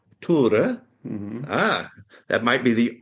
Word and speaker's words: Tore: So I am here today with Tore Nilsen. He said I can call him Tor, but it is pronounced Tore.